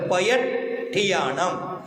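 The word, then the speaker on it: पयट्ठियाणं: अट्ठ गुण, अट्ठ गुण संपन्नानम, संपन्नानम उड्डलोये, उड्डलोये, उड्डलोये मत्थयम्मी, मत्थयम्मी पयट्ठियानम, पयट्ठियानम, आधा ठ पूरा ठ, आधा ट और पूरा ठ, पयट्ठियानम, पयट्ठियानम सिद्धाणम, सिद्धाणम अट्ठ,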